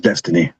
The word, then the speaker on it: Dynasty: That Dynasty, her name is? So it's pronounced Destiny. Just looked it up. That's Destiny? It's an interesting spelling.